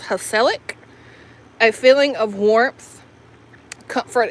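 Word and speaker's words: gezellig: It says pronounced hellic.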